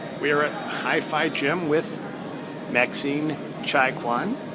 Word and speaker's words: Maxine Chaikouang: We're at HiFi Gym with Maxine Chaikouang. Did I come close to pronouncing that correctly? Yes, okay. very close.